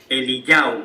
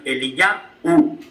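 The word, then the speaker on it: אליהו: El nombre de Elías es Eliyahu. Bueno, la voz, no se escribe así, pero la voz que oímos en hebreo es Eliyahu.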